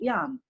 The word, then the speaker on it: Jan: So, but we pronounce John in Polish Jan. Jan.